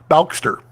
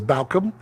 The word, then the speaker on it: Balcom: Actually, I should mispronounce that. Balkster. That's what everyone says. Balcom.